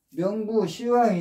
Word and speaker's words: 명부시왕: 합니다 그런데이 저승에는 또 명부 시왕이 있다고 하네요 명부시왕 여기에서이 명부는 저승이라는 뜻입니다 왕은 왕인데 그래서 명부 왕인데 불교에서는 이렇게 십을 시로 발음을 해서 명부 시 왕이라고 하네요 우리가 보통 어 죽으면 염라대왕한테